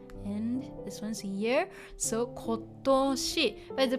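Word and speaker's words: 今年: But normally, this the onyomi version, the compound version, is nen, but something like this, we don't say konnen, we say kotoshi.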